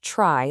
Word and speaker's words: trie: Now, it's often pronounced try, though it comes from the word retrieval.